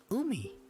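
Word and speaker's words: 海: makai guy foreign if you just by itself you pronounce it as umi for we know ocean or sea and if you have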